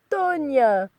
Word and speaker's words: Tonya: the desperate cry of Tonya! Pronounced tone, yeah, with the tongue curled, emphasizing on the O to lower the voice.